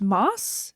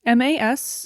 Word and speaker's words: Mas: And I believe it's pronounced Mas, M-A-S. Easy. It's either Mas or Mass, but I think Mas because there's only one S.